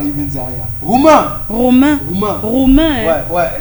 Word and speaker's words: Roumain: Roumain. Romain. Roumain. Romain. hein. Ouais, là. J'entendais ça, mais tu as oublié le U.